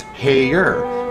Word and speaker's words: Hare: The March Mars hare rabbit is named Hare, pronounced Hayer, made to rhyme with mayor in the Alice in Wonderland film called Through the Looking Glass.